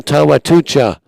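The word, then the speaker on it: Tchatchoua: adamawa us and sax Flo Simba Jonathan tomana tomatucha and yes that's how you pronounce his name the key for them is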